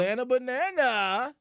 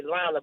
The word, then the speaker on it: L Banana: girl hey well okay I just say l banana because you know that's how you pronounce my name but a lot of people they say Lana but it's l like L banana period anyway uh H